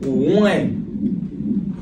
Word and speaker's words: Wone: But Chozen Wone is the main focus because not only did we spell one like it's spelled W-O-N. So, and then the E at the end, W-O-N-E.